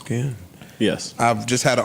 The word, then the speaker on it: Cannes: this in Cannes. Because this is the first single I'm underwhelmed. At a If it's just a Spotify song she's event. putting out, it's fine. Yeah. Is that how you pronounce Ken?